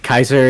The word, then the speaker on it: Caesar: Ka Kaiser is actually how it would properly be pronounced in Latin. Uh but you know normally people just say Caesar but like people who